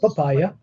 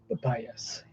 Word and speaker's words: Papias: Can you say Papias? Not papaya, Papias. It's in Papias. Say it again. Papias. No, spell it again. Papias. Not papyrus.